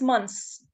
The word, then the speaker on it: months: No, it's months. Month. You make it dental. Okay, like to put your tongue between your teeth.